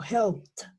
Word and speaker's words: helped: etcétera, etcétera, todas estas terminaciones se van a pronunciar en pasado con una T. Entonces yo no digo helped, yo digo helped, con esa T al final, esta de acá.